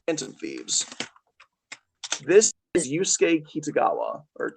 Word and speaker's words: Kitagawa: This is Yusuke Kitagawa or Kitagawa as they like to pronounce it.